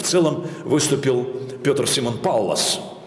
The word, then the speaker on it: Паллас: целом выступил пётр симон паллас правильное ударение на первый слог так говорят немцы для нашего уха это